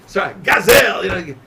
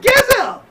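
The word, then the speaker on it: גזל: Or even if you want to say, Gazel, not Gezel.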